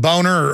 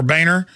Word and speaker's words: Boehner: yeah well know he the name is German it's a nice name it's pronounced boner and he his whole life he even had ad campaign say it's Boehner not boner hey if your if